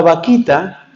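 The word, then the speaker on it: Bakhita: por el Papa Benedicto el nombre se escribe con b grande pero suena chistoso pero no tiene nada chistoso vaquita se llama Santa vaquita fue una Santa que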